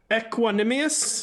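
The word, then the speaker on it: Equanimeous: first one I've never really known how to pronounce, but Equanimous there you go.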